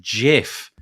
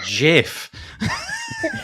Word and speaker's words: GIF: get them wrong but basically it was it's pronounced jiff it's jiff really from the person who started it amazing